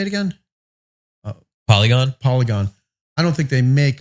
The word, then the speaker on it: Polygon: Polygon.